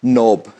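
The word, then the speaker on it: knob: देखें एग्जांपल में, नोब, नोब में क्या है, एन से पहले के आया है, और नाव में देख सकते हैं एन से पहले के आया है।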